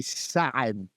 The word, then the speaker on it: Saad: Well, the first part is right. The second is it's a guttural ayin, so it would be Saad.